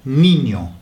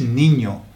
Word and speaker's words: niño: Y esas palabras nos causan problemas, porque muchas veces si la palabra lleva una I, la pronunciamos como E, como, a ver si puedo encontrar una, sí, la palabra niño, niño, ¿vale? N-I-N-O, niño. Pero un inglés, leyendo esa palabra, diría niño, nin, niño, ¿vale?